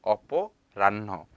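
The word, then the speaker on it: অপরাহ্ন: 자, 요거는 허거든요. 벵골로 허예요 이거. 하지만 발음할 때 란너를 하잖아요. 여기 너 있거든요. 왜 하냐면 이 허 발음이 안 나요. 한국어에서도 약간 그렇게 발음이 날 때가 굉장히 많잖아요. 뭐 어떤 발음 그러니까 어떤 알파벳의 발음이 안 날 때 이것도 마찬가지로 허 발음이 안 나고 그냥 너 발음이 나요.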